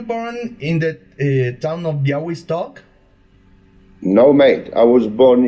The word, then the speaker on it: Białystok: Se escribe Białystok, pero se pronuncia Białystok porque la L con esa crucecita se pronuncia como U.